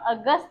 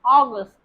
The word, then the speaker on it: August: Okay, this is not August but August.